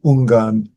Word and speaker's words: Ungan: That's how you pronounce their names in um Sino in No, that's in Chinese. And in SinoJapanese they pronounce the name Unan and Dogo.